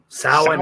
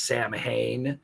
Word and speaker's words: Samhain: pretty much wrong it's NWA so sa sin sin is how it's pronounced um it way most people would pronounce it as Sam Hayne that's what looks like probably because of Glenn